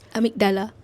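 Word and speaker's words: amygdala: Amikdala.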